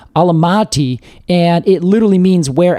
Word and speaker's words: Almaty: It's the city of, I think it's pronounced a couple different ways, but Almaty, and it literally means where apples grow.